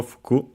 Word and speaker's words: 服: Its accent is Okay, fuku has accented on the last syllable, fuku.